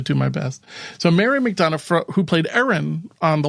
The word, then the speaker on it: McDonough: to pronounce her time it's McDonough all right I'm gonna commit to this McDonough yeah I know I'm right too Mick done yeah McDonough all right I'm I'm